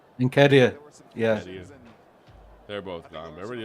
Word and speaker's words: Nketiah: And with, the other guy, I can't pronounce his name. Edward Ntakia. Nketiah, yeah.